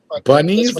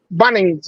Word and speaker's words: Bunnings: Bunnies like like a rabbit. Bunnings. Not Not bunnies. Bunnings.